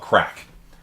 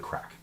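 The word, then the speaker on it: craic: what they love crack yeah so that's a gaelic word it's not you know crack cocaine they love a good crack and uh if you if you're like wait that doesn't look like crack just be aware that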